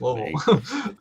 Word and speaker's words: Louisville: You got to say it like you got a mouth full of rocks. That's what you said. Louisville. Hold on, let me get Louisville. There you go. Louisville.